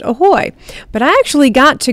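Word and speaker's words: ahoj: And today it's going to be the Czech word for hello, which is pronounced ahoy. It's spelled A-H-O-J, but it's pronounced ahoy.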